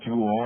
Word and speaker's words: joule: the joule capital j o u l e pronounced like the gem but spelled differently the jewel in honor of james prescott jewel as you